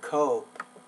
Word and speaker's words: cope: Make the vowel O a little bit longer, cope.